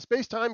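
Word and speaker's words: SpacemiT: gathering was uh the space-time K3 and if you did not know uh yes that is how you pronounce that word is spacetime.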